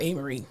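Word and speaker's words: Amerie: A-Marie, let me just tell you about A-Marie, okay?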